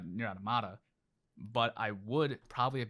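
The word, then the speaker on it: NieR:Automata: the end credits of nira tamila or niratamata sorry i've been saying it wrong my whole life uh near adamada but i would probably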